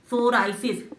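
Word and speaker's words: psoriasis: नकली पिक्चर बनाइए ना सोराइसिस एस से नहीं आता पी से आता है प पी ओहो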